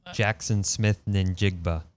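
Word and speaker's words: Jaxon Smith-Njigba: Jackson Smith Njigba. I think the N is silent.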